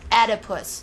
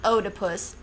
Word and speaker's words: Oedipus: do and I know how to say it correctly too edus not Odus think about it people